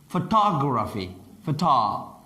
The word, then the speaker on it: photography: Photography. Now in English, stress syllables are longer and louder.